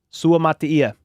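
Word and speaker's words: Suamataia: to pronounce his name Su Matia basically he kind of says it like an Islander so it's more like mut but it's it's just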